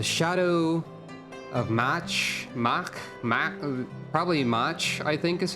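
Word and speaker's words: Mhach: of match Mark probably much I think is how you say it was a uh three raid series or rather a storyline featuring three 24-person raid dungeons it's pronounced mock okay Monk very well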